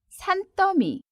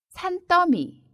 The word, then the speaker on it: 산더미: 같아서 운동할 시간도 없어요 상 더위는 발음의 도 주의해야 해요 산더미 산더미 이렇게 읽습니다 낮이 샤라의 마리아 스